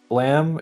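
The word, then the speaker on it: Blame!: what's it called again blam it's spelled blame oh yeah it is supposed to be blam um and I'm just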